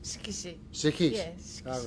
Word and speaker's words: shikishi: Apparently, Shikishi board is not how it's said properly. I was corrected. Bull, could you tell me again? This word is not Shikishi. It is Shikishi.